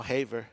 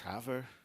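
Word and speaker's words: Havre: It's now Haver, it's Haver, Billings, and so forth.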